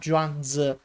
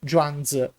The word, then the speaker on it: Zhuangzi: who is called Zhuangzi, which in Japanese is pronounced as Soshi. In fact, I had noticed that in the American version, for example, PlayStation 1, there was written Soshi, while in the PSP version there was written Zhuangzi. Simply, they are the same person only one is pronounced in Japanese, that is, Soshi and the other in Chinese, Zhuangzi.